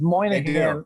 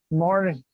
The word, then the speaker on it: Moynihan: this particular that's like my last name is moynihan and it's only people from boston and people from new york that know how to pronounce my name because everybody else is like morning but there's a ton